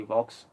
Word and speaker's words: Vox: Ashley Vox, meant to say. I was it kind of rhymes with Fox, Actually, it is, but Ashley Vox.